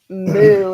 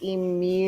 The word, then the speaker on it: emu: it incorrectly oh brother it's not moo it's emu U uh Emos sound like you know when a car with bass goes by like that's how emu sound you would swear